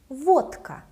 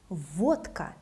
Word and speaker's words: водка: Водка. Vodka. Again, the voiceless K makes letter D sound voiceless, like T.